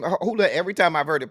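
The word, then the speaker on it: Houlahan: Every time I've heard it pronounced, it's Houlihan. Now if it's Hooligan, maybe it is, but it's there's not even a G in there. But every time I've heard her pronounce it, she says Houlihan.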